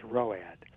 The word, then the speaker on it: ROAD: But look, in the military, back when I was an enlisted man in the 70s, there was an acronym, ROAD, which we pronounced ROAD, and it meant retired on active duty.